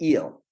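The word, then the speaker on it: Újhely: Hungary ended up in eel which if you know called I don't know the long Hungarian pronounce sat u u j h l y is the way you would write eel in Hungarian eel is very famous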